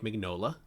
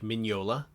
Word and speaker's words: Mignola: series with uh art by the legendary mike mignola or i'm sorry mike mignola it's going to take me a while to